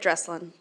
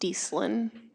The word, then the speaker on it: Dreslin: And for our opening statements, our first speaker will be candidate Dreslin. I just want to add it's pronounced Deeslin.